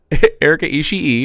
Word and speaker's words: Erika Ishii: Erika Ishii is how you pronounce it, and they're non-binary. Ishii.